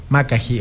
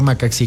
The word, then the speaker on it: Macaxí: Macají o Macaxí, como le quieran pronunciar.